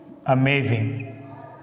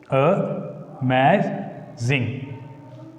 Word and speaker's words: amazing: First letter of stressed syllable. How can we put? Take this word amazing. Here the word amazing is a trisyllabic word. If you divide it into syllables, we can write like this: amazing.